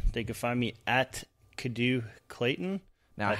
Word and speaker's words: Cadieux: Well, John, on Twitter, they can find me at Kadu Clayton. Now, that's how the hell do you spell that?